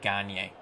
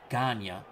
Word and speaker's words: Gagne: Eric Gagne.